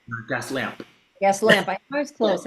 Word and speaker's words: Gaslamp: I want to call it Gaslight District. Did I say it right? Gas lamp.